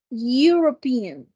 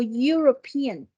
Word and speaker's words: European: Mira la palabra europeo en inglés es european no suena la e Yo no digo europea yo digo european sonido de consonante Por